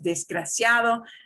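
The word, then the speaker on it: desgraciado: you're saying there is disgraciado and a lot of countries in a lot of places when they're talking very very fast they don't always pronounce the d it means they're not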